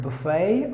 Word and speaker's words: buffet: There are 2 ways to pronounce the word, buffet or buffet. If the British will pronounce the word as buffet, but the Americans would pronounce the word as buffet, buffet.